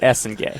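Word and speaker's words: Essengue: Noah Essen Gay. Essen like Essen Lane and Gu.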